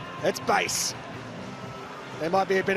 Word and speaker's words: Buis: for Colombia so Dian base the correct pronunciation is not Bo it's base there might be a